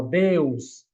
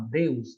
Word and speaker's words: Deus: Um exemplo, ó, Deus. Deus, a gente acha que tem duas sílabas, mas só é uma. Deus, né?